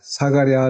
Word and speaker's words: 스가랴: 기억하신다면 하는 뜻입니다 그리고 이 스가랴 는 사가 리아 라고도 발음을 압니다 성경에 나오는 3류 완의